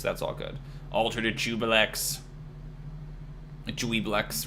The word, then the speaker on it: Juiblex: They don't like the way I pronounced Dweeblex, everybody. Jubilex.